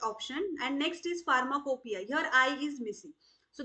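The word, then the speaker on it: pharmacopoeia: so we know that although we pronounce it as pharmacopia but it does not start with the letter F so option A is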